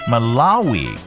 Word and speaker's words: Malawi: Pronounce, please. Malawi.